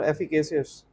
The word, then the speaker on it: efficacious: the plaintiff has no other efficacious How to pronounce it? Efficacious or efficacious?